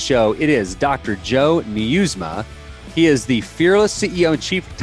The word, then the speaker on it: Nieusma: Joe Nieusma.